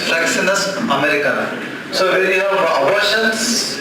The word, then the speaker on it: Fraxinus americana: Last class I told a remedy wrong. Fraxinus americana. Must be I would have pronounced it in a different way. Kindly correct it. The remedy is Fraxinus americana.